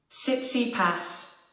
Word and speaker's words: Tsitsipas: Pronunciation. Tsitsipas.